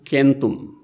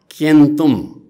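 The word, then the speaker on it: centum: सय सङ्ख्या जनाउनका लागि एक खालका भाषा क उच्चारण गर्दो रहेछन्, कबाट सुरु हुँदो रहेछ, अर्को खालको भाषाहरूमा सबाट सुरु हुँदो रहेछ। जस्तै अनि सस्तो संस्कृतमा शतम भने सय भयो, अनि ल्याटिन भाषामा केन्तुम भनेको सय भयो।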